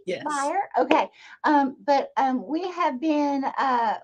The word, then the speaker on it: Beyer: So, am I pronouncing that correctly? Yes. Beyer?